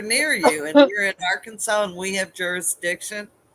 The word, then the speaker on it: Arkansas: Arkansas. In Arkansas, you must pronounce the state name correctly. You can't say our Kansas or Arc, you know, cactus hugging.